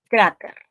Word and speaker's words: cráter: Dos sílabas, cráter. ¿Cuál es la tónica? Esta, cra. Muy bien. Y cuando yo pronuncio cráter, evidentemente, pues noto que la penúltima sílaba es la tónica, porque yo no digo cráter, yo digo cráter.